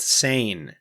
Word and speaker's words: Seine: fingertips how do you pronounce sane it is pronounced sane very good thank you internet the sane watch it's wrong and I'm going to sound like a complete flipping idiot but the Sayan it just doesn't sound right whatever but but